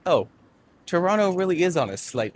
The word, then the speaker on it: Toronto: The reason it's called that is because A, I am a tour guide, and B, no one in Toronto pronounces the second T, so we all say Toronto.